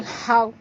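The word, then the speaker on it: الحق: Di sini cara bacanya kena berhenti dulu 2 saat baru bunyikan qa di ujung kerana ini adalah qalqalah akbar.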